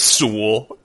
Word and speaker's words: Sewell: Sewell, which is you'd think it's 2 syllables, but it's 1. It's Sewell. Sewell. It rhymes with tool, the band, or like a wrench.